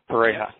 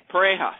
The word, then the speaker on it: Pareja: Leo Pareja, is that the correct pronunciation? Pareja. Pareja, sorry.